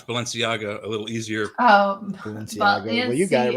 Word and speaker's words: Balenciaga: On the private chat, you'll see I broke down how you can pronounce Balenciaga a little easier. Oh, Balenciaga. Well, you got it right off the bat. Balenciaga.